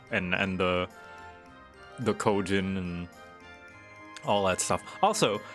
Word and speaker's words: Kojin: all that stuff uh use the native like pronunciation or the the proper like japanese style pronunciation for like kojin instead of kojin you know they're like kojin like proper japanese or